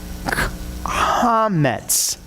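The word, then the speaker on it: חמץ: So you know that the beginning of that is pronounced ha. Ha. Okay? Now, the little dots that are under the mem, that will be the next vowels that we learn. That's an eh. Okay? So altogether, it's hametz.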